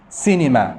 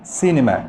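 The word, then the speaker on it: cinema: سينما، سينما، سي آي وبعدين الإن حرف ساكن.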